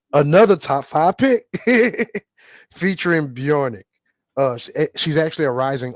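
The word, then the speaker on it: Björk: on it yeah yes her name is pronounced bjorck BJ and that's intentional oh okay I'm sorry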